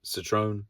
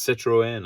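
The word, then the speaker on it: Citroën: how to pronounce it citrone it's not a citrone it's Citroen I think little French car ugly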